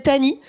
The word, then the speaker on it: Tahnee: Je me présente, je m'appelle Tani. Tani, ça s'écrit T-A-H-N-E-E.